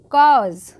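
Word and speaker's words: cause: एच जो होगा वो साइलेंट हो जाएगा। तो यहां पे पढ़ेंगे हैज़ लिटिल कॉज। कॉज काऊ से नहीं पढ़ेंगे।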